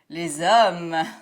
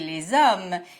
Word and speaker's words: les hommes: that when I say les hommes, you actually hear a z sound. The final S of les is pronounced here because the noun following les starts with a vowel sound.